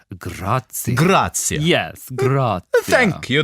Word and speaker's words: Grazia: I think it's pronounced Grazia.